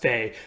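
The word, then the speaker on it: fait: modern French you know this is pronounced FEI today with basically a silent T in the AI run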